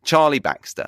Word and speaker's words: Charlie Baxter: me your host Charlie Baxter that is Charlie Charlie Baxter that's how I say my name as I